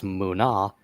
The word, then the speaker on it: mana: They had begun to manipulate mana or in their language would be pronounced more as muna and their understanding of this technique was so great they began to start foreseeing the future.